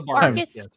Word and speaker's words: barghest: Yeah, that's literally the the phonetic pronunciation is like a bar guest.